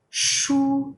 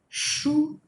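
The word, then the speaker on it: chou: c h all right so make sure not to pronounce them the english way with a t sound before it it's not ch like chip right it's not like this it is just shh right shu we were just talking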